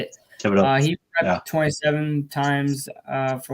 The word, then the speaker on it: Thibodeaux: Thibodeaux.